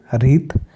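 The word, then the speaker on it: wreath: देख ले राइट लिखना रैप लपेटना रॉन्ग गलत रीत हार तो सम टाइम रीत वह भी होती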